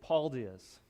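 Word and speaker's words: paldies: Thank you is Paul Diaz. Paul Diaz. In my head, it sounds like a full name, Paul Diaz. So that's how I remembered it. But it's Paul Diaz, and it's not with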